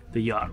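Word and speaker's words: Youghiogheny: Oh yeah, there's the yacht. How do you say yacht? Yacht river. Even though it's called a U.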